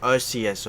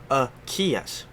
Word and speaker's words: Arceus: and whatnot and then you say like arceus or something like that rat them out just literally be like that's not how you say his name it's a kiosk just help me out